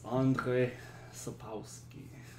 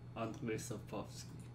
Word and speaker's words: Andrzej Sapkowski: It's Andre Sapowski. I am probably horribly mispronouncing that, for which I apologize. Oh, that's not what I wanted. What do we got? Andrzej Sapkowski. Andrzej Sapkowski. Yeah, okay. We're good.